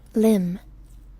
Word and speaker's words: limn: Limb. It is limb.